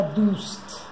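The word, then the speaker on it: دوست: A outra palavra que vou ensinar é dust, amigo. Dust. D-U-S-T. Depois vou ensinar mais para frente, em outras aulas, como é que a gente junta. Essas são a letra D-U-S-T.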